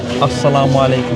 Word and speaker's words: Assalamu alaikum: So, Assalamu alaikum.